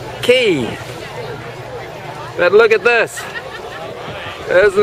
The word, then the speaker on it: Cay: and the word K should be pronounced key but look at this